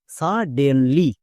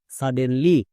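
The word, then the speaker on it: suddenly: এবার একসঙ্গে উচ্চারণ করো। সাডেনলি সাডেনলি এরকম করে উচ্চারণ করতে হবে।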